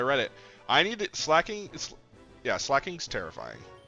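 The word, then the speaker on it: Slaking: Hey, Google says slacking. Let's see how to pronounce slacking. Yeah, it's slacking. So, I don't know where I heard Slake King from, but I was dead ass wrong, and I apologize, chat. I apologize. It's slacking.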